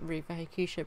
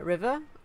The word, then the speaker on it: Riva Hakusha: So my username on here is Riva Hakusha, but it doesn't always get pronounced correctly. Like, some people call me River, or some people call me Riviera, which I don't know